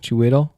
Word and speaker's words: Chiwetel: Chitwell. Yeah. How do you say his name? No. Chiwetel.